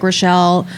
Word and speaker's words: Rachele: Today we have, I keep asking, I didn't ask before, is it Rachel or Rachele? It's Rachel. Rachele Friedman, hello!